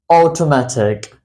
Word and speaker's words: automatic: okay it's called automatic automatic automatic the word physically starts from a but it doesn't sound with a it sounds like oh like automatic automatic now I really